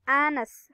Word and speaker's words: honest: Ini honest, jadi bacanya honest, hanya hilang tapi honest.